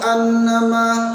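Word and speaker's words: أنّ: Nah, yang kedua pada ayat 3 ialah gunnah juga sering hilang pada lafaz anna. Sering terbaca yahsabu annama. Bacanya betul tapi dengungnya yang hilang, menjadi kurang betul pula, menjadi tidak betul juga, sehingga seharusnya yahsabu anna ada dengungnya, satu alif pada dua harokat. Yahsabu annama lahu akhladah.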